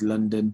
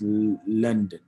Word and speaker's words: London: How is London today? I'm learning how to pronounce London. I used to call it London. I've been told that is wrong.